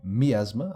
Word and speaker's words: miasma: Eric what's my asthma well my asthma or if you prefer to pronounce it that way miasma I hear people pronounce it that way occasionally is a purple cloud